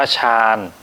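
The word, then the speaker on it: 山: ครับ ผู้ เขา เนี่ย อ่าน ออก เสียง ว่า ชาญ นะ ครับ ชาญ เหมือน ฉัน เมือง เนี้ย ครับ แล้ว ก็ ถ้า เรา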